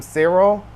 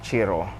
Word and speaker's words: Ciro: I've been calling him Sero, but after watching a bunch of his interviews with other people, I realized his name is pronounced Chiro. Chiro Maracheti.